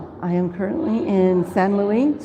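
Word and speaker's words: Saint-Louis: i am currently in san luis spelled st louis for uh you know americans uh but at san luis senegal and my taves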